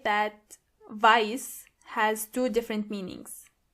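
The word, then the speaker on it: weiß: Black means And make sure you are pronouncing the correctly. Exactly. White means vice.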